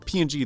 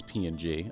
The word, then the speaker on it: PNG: I mean, there is, I guess, still people saying ping versus PNG. I'm a PNG person, but I ping ping works, too. It's the same thing. There's no confusion of whether or not it's pronounced differently. though, and nobody cares.